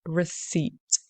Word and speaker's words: receipt: You pronounce it as receipt.